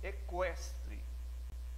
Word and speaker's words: equestre: Esse QU não faz dígrafo, porque eu pronuncio o Q e o U, equestre.